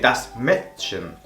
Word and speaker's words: Mädchen: Esta A con dos puntos hace que la letra, en vez de sonar como una A normal a nuestro modo de verlo, sonaría como una E muy abierta, una E, ¿vale? Igual que das Mädchen. Y además alarga un poco esa letra también, el sonido de la letra se va a alargar.